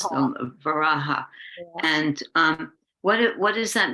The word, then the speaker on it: Varaha: First of all, we say Varaha. That's how you pronounce Varaha.